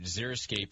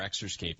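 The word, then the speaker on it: xeriscape: keep it watered but if you zeroscape it or excape it depends on what part of the state you're from how you say it but um yeah is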